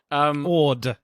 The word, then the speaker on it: Ord: I said Hoyt, but you said it was something else. Horde. Army Hammer. Horde. I don't know why I thought it was Hoyt. Anyway, Horde. Ord. O-R-D. Horde, yeah?